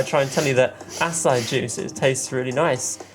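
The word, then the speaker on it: açaí: Oh, I had acai juice yesterday. Acid juice? Acai. Acai. Oh, A-C-A-I. Apparently that's how she pronounced it.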